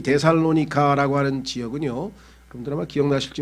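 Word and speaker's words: Θεσσαλονίκη: 그러니까 그때 한창 데살로니키, 아마 그 그리스어로 발음을 하다 보니까 우리는 데살로니카인데 그 사람들은 데살로니키 이렇게 돼 있죠.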